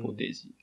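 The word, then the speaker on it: Portage: 一応調べると、ポーテージって読むんですかね。はい、ポーテージ。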